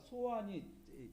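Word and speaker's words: 소안: 자, 이 애굽의 지도를 보면 맨 위에가 소환이 ZOAN, 한국어로는 소환이라고 읽어요.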